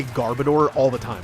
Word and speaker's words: Garbodor: But I understand that it probably should be pronounced Garbodor because it's garbage and odor.